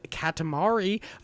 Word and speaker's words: Katamari: know why I said Katamari ok I feel like I got that right but I think I was pronouncing a weird Kadim instead of like Katamari yeah I was a katamari it's like calamari yeah ok this games